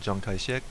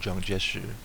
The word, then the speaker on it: Chiang Kai-shek: Au cours de l'automne 1937, les troupes chinoises perdent 250 000 soldats, 60 des meilleures forces de Chiang Kai-shek ou Chiang Kai-shek, deux façons de dire son nom.